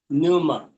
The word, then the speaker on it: pneuma: न्यूमा, हाँ, PNEUMA, न्यूमा। हाँ, पी जो है वो उसका साउंड जो है वो साइलेंट है, और लेकिन लिखने में पी से शुरू है।